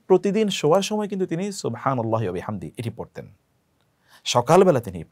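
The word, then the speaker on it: سبحان الله: সুবহানাল্লাহি scene এর উচ্চারণটি শুদ্ধ যেন হয়।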